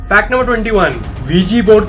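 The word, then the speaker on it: Ouija: तो V G board का नाम जो है OUIJ, वीजी पढ़ा जाता है, इसे प्रोनाउंसिएशन अलग है लेकिन यही है।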